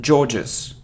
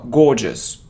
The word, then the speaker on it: gorgeous: it's bullet bullet bullet it isn't georgeous georgeous no gorgeous gorgeous gorgeous it isn't coupon Not